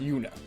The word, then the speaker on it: Juna: It's spelled Juna, but I think it's pronounced Una.